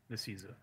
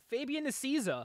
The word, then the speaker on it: Nicieza: How do you pronounce it? Is it Nicieza? Nicieza. Fabian Nicieza.